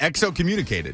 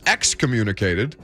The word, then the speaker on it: excommunicated: used exocommunicated exo communicated i believe the word is excommunicated i think you added an extra syllable in there did you do that on purpose um let's find out it's definitely excommunicated x i think you combined exoskeleton and communicated in the middle of that word but you know we're